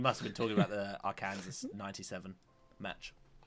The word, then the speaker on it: Arkansas: what did you say Arkansas Arkansas Arkansas is it yeah there's like this huge like finger like why is Kansas and Arkansas not pronounced the same oh I was the